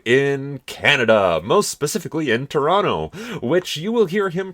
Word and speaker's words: Toronto: things to do in Canada, most specifically in Toronto, which you will hear him pronounce the American way the entire through this video, so I'm just going to say one time now that we say Toronto.